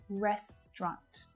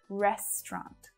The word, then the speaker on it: restaurant: german even japanese but in english you will hear native speakers reduce that down to just two restaurant restaurant which is very quick